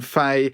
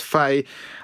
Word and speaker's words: Fahy: So my name is Fay. Yes, technically it's Fahy, it's Irish, but long story why it's pronounced Fay.